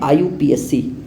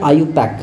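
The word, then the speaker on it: IUPAC: body का नाम है आईयूपीएसी या आईयू पैक भी इसको बोला जाता है हर टीचर अलग-अलग तरीके से इसको प्रोनाउंस करते हैं तो इसमें परेशान होने वाली बात नहीं है यह क्या है इंटरनेशनल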